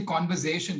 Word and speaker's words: Converzation: the pronunciation is actually conversation like you you say it with a z not an s now you cover cover